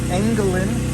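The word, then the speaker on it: Engelen: How do you spell that? E N G E L E N Angalin.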